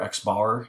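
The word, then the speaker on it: x̄: we use this typically x with a bar x bar is how we pronounce that that is typically how we use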